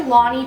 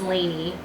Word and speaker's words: Laini: Blood and Starlight by I always say Lonnie Taylor and I think her name is Lanie so I'm so sorry because I know I'm saying your your name wrong it's a beautiful name I just never say it correctly I say Lonnie but I'm pretty sure it's Laney Taylor but I read Daughter